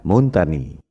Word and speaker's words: Montagnier: Kalau bahasa Prancis, ucapan dan tulisannya memang beda. Bombardier, bacanya Bombardier. Louis Pasteur, bacanya Louis Pasteur. Montagnier, bacanya Montagny.